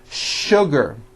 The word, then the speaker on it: sugar: What you may not know is that there are some words in English that are written with the letter S, but are pronounced with the SH sound. Words like sugar and sure.